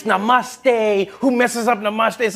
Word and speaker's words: Namaste: coming on like dude it's not Nam it's Namaste who messes up Namaste